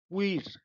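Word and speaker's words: queer: क्वीर, क्वीर, ये इस पर प्रोनाउंसिएशन पर ध्यान दीजिए।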